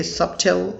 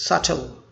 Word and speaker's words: subtle: is subtle or subtle but if you say subtle it's wrong in british english the word is subtle so tall subtle that's right but in american english they say it's subtle it's okay but you don't say it's subtle but you don't say it's subtil his whole attitude hadn't